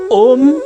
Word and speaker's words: ओम: ओम 3 शब्दों से मिलके बना है, अ, ओ और म।